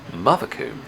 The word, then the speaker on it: Mothecombe: Now, last year I was called up on not pronouncing this layout right, so I'm telling you the name is Mothecombe, even though there's no R in it.